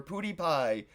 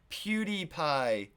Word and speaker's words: PewDiePie: to be like ninja or T foo or pudy pie pute PewDiePie I said it right you know like they